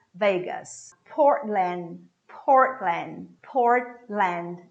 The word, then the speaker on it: Portland: portland portland port land this tea is a soundless tea you form it but you don't put it out there's nowhere coming out so you say port lan the same happens with the final d portland portland one more